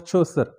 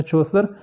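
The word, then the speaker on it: Chaucer: So dear students, मेरा ज़ौक pronunciation भी है, तो अमेरिकन प्रोनाउंसिएशन में इसे चौसर पढ़ते हैं, ब्रिटिश में चौसर। So mostly I follow British, so this is वाई आई से चौसर।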